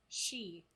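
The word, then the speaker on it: sidhe: sounds amazing the danon eventually evolves into the she that is spelled s-i-d-h-e i wouldn't say it like no i looked it up cause i was like how's that pronounced it's pronounced she huh the fairy folk who is they are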